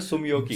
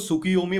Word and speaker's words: Tsumyoki: है नाम ही ऐसा सुमियो की सुमियो पहले मैं ना इसको सुकि योमी पढ़ता था सुकि योमी ना एक्चुअली